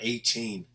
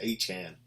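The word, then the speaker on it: Achane: the rookie running back, Achin, however your name is pronounced, dude. I know it's not A-Chain. He doesn't like A-Chain. Like, I believe it's A-Chan.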